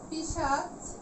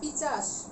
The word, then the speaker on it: পিশাচ: যেমন পিশাচ, একটি শব্দ পিশাচ, এটিকে কেউ কেউ উচ্চারণ করে পিচাস। পিশাচ হয়ে গেল পিচাস।